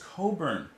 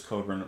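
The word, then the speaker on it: Cockburn: the dragon's jaws bruce coburn we've gotten some bruce cobra before and i mispronounced the name before but this time we're gonna we're gonna pronounce it right i love that album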